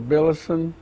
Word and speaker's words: Billison: give me your name so we'll have it pronounced correctly tell me your name I'm billison b-i-l-l-i-s-o-n tell me when were you born I